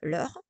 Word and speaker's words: leurs: You will notice that I say no or vos. I don't say nos, vos. I don't pronounce any S. I say no, vos, because you don't pronounce the S, the final S.